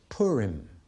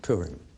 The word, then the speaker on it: Purim: r and the plural of that lots is Purim P you are i M if have you